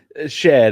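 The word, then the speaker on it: Shead: I would say Jamal Sheed. I think I heard you pronounce it differently, Parker. Shed is Shed. It's Okay. not spelled like, but that's fair.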